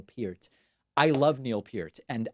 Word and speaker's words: Peart: I pronounce that right I used to always say Neil Peart and then someone told me David come on it's Neil Pierce I love Neil Pierce